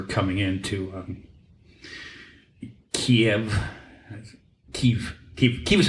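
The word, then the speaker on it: Kyiv: in to um Kev keev ke ke is how how you're supposed to pronounce it Kiev is the Russian pronunciation the Czech the Ukrainian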